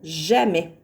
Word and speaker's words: jamais: Il y a un S muet qu'on ne s'explique pas, mais jamais, il ne faut jamais oublier de mettre le S dans « jamais ».